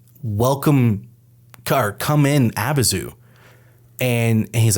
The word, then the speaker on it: Abyzou: heard it a bunch of times and us pronounce it. No, I'm saying I just said Abazu for the first time ever, and you immediately have to go look it up.